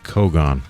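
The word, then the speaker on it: cogon: A lot of folks saying it's Kogon. Okay, I apologize. I apologize for that. So, pronounced like photon.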